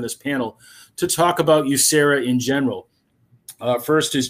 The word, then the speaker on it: USERRA: and re-employment rights act simply we pronounce it you sarah enacted the current version